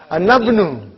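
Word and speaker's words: أنا ابن: But how will I pronounce? Anabnu. How will you say? Anabnu. Anabnu I'll pronounce.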